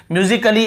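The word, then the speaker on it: musically: है, देखिए ध्यान से, म्यूजिकली ऐसे ही पढ़ते, ए को हम ध्यान नहीं देते कि भाई ए लगाना है कि आ लगाना है। तो ये थोड़ा ईजी वाला है। तो ए का ये होता है साइलेंट में डबल एल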